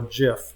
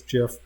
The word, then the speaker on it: GIF: I know there's disagreement I'm pronouncing this gif gif or Jif so the original people say it's jiff I've pronounced it a gift forever anyway with originally those